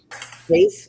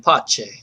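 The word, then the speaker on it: Paice: bass Lord on keyboards and organ and Ian Pace on drums. Is that how you say his name? Pace. Yep. Yep. I thought it was Italian. Poache.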